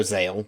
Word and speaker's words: ZEXAL: decided to start watching yu-gi-oh sale which is apparently how it's pronounced i don't know why